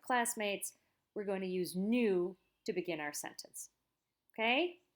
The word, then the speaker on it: nous: we're going to use nous to begin our sentence. Okay? So that S is silent. Be careful when you say it.